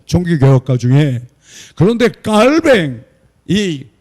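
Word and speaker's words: Calvin: 그리고 반드시 성만찬을 매주해야 된다고 가르쳤고 지금도 그렇게 하고 있고 어 종교 개혁가 중에 그런데 깔뱅이 영어 발음으로 칼빈이라고 하는 이분이 그러면 했냐 안 했냐 그분도 했어요.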